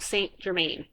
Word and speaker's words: Saint-Germain: the Comte Saint-Germain, and I can't say that to save my life, so I'm just going to say it like an English person, like an American. Count Saint-Germain, okay?